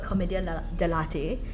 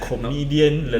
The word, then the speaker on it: commedia dell'arte: We also covered commedia dell'arte, which is like Again? Sorry? commedia dell'arte. Is it? Okay. It's like It's not coffee. No, I thought it was like comedian lelate.